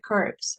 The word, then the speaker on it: curve: Eso es porque me ignoro la u y quedo como v curve, ¿verdad?